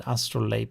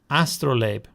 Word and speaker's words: astrolabe: The astro ast how do we pronounce that? Astrolape. Astrolopee. Astrolabe.